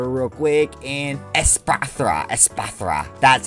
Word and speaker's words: Espathra: Espathra.